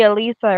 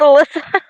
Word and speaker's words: Alyssa: I know you call me Alisa, right? That's what it says. What that says? It's Alyssa. Alyssa. Yes. I'm I'm going by what it says on the screen. Listen. Many people say my name all the way. Melissa. Alyssa. Alyssa. It's Alyssa. It's Alyssa. Yeah.